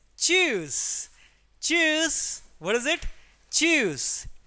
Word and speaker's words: tschüss: choose. TS, don't say it tuse or anything. It is silent, so it will give the sound of choose.